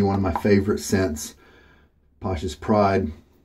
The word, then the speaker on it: Pasha's Pride: of my favorite scents Pasha's pride from holy cow and I have checked and that is how you pronounce that very odd spelling just a normal looking